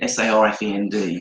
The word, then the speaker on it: Southend: and Greek teacher in Southend got us all to do. I forgot you're an Essex boy. I'm an Essex boy from Southend. Southend, Sarfend, to pronounce for those of you who don't know.